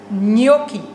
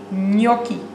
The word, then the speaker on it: gnocchi: Je zegt geen gnocchi, maar je zegt gnocchi. Dus N-J-O-K-K-I-E, gnocchi.